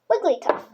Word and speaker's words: Wigglytuff: How to say it? Wig, tuff. Wigglytuff.